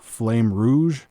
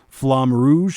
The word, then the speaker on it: Flamme Rouge: my eye was called, I'm not sure how to pronounce this, but it's Flame Rouge. I think it's Flam. Flamme Rouge.